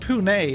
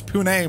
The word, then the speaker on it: Pune: yeah what's he doing it's pronounced pune home of the big tech in india and bangalore nice hoon it's pune murph i'd be dangerous